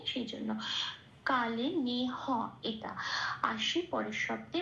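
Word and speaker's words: কালেনেহ: এবার বলবো কালে না হ। এটা কা, লে যেমন আছে তেমন, নে হ পূর্ণরূপ উচ্চারিত হচ্ছে, কোনো হসন্ত নেই, সেই জন্য কালে নে হ।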